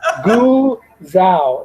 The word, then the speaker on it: Guzzo: Glenn pronounces his name Guzau, not Guzau. Guzau. Just being polite. not to correct you. I didn't want to bring it up on the message board. So, Guzao. It's Glenn Guzao.